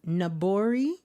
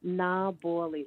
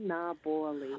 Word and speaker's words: Naboli: Nabori? No. Naboli. Nabali. Am I saying it right? Yeah, na boilie, like boil water, na boilie.